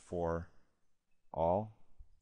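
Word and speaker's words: ∀: in fact that this by the way is pronounced for all so this is saying the denominator is never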